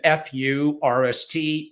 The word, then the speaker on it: Furst: pronounced, and last name, easy to pronounce first, but there's kind of one of two options. I don't want you to pick the wrong one. It is F-U, pardon the pun, R-S-T, again, F-U-R-S-T, Furst.